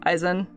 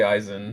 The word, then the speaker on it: Asen: But I also you could pronounce just... him as Asen? Asen. I say Asen. Asen works too. It's fine either way.